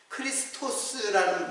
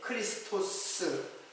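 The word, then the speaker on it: χρηστός: 그럼 크리스토스라는 말인데, 크레스토스. 제가 발음이 조금 틀렸습니다.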